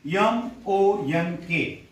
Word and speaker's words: monk: Okay, now first word is M-O-N-K, monk. What is the pronunciation of this word? Monk. Because या O ला आपण अ म्हणणार आहोत. monk, M-O-N-K, monk.